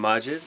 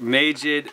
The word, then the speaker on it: Majid: Like, it's like, Majid, Majid is cool too. Mm-hmm. It's like the Spanish, the silent J.